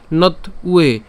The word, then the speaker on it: ত্বে: নথ, এই যে এখানে নতুয়ে বলেছিলাম, এটাকে চাইলে ত পর্যন্ত উচ্চারণ করতে পারেন, তাহলে নথ উচ্চারণ হচ্ছে। এবং এখানে যে উ আছে অর্থাৎ ব অন্তস্থ ব আছে যার উচ্চারণ উয়োর মতো হয়, তাহলে এখানে হচ্ছে উয়ে উচ্চারণ হচ্ছে।